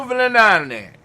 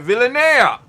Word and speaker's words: Villanea: Fernando Villanane. I'm going to say it right. Villanea.